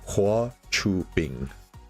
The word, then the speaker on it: Hua Chubing: Boy Cubing, is that how you pronounce this new guy's name? It is. So according to my Chinese teacher, it's Hua Chubing.